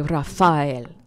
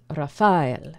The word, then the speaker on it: Raphael: the Hebrew would say Rafael Rafael and so with with the um the stress being in the middle of the word which is kind of unique get our picture back